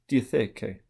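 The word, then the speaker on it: διαθήκη: However, it is apparently still the same underlying Greek term, pronounced something like diatheke.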